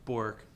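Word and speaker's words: Bourke: bork safety eye shield it's actually pronounced burke invented by lester burke in the mid 60s but that's like the karn's name the family named cairns the family named burke now commonly pronounced bork and carns respectively that's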